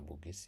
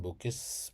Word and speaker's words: Bugis: ini dikenal sebagai Isa Bugis ya. lahir sekitar tahun 1926 di PID Aceh atau Luk Bugi. Eh, sebutan Bukis muncul akibat pelafalan lokal atas kata Bugis, bukan karena keterkaitan dengan suku Bugis di Sulawesi Selatan.